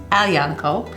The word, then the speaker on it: Aglianico: the scrape is unique it looks like it's spelled egg Giuliana ko but it's a young coat and they call it